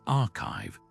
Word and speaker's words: arXiv: place to start is the Rzziv preprint server, pronounced archive, this open access website